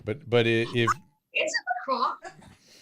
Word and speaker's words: La Croix: there you go, LaCroix people say, but if Is it La Croix? La Croix, yeah, that's how you actually pronounce it. It's French for the cross.